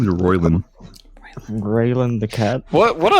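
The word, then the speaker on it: Roilyn: name you Slinky cat thing my name is royin rayan the cat what what an oddly normal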